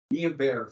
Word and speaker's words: Guillain-Barré: I put it up here because I always mispronounce it, but it's Guillain-Barré syndrome, which has many of the same symptoms, and so we very well could have had that.